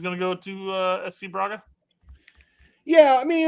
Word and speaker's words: Braga: What did you say, Bragla? It's Braga.